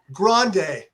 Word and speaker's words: Grande: Grande. Like in the Rio Grande River.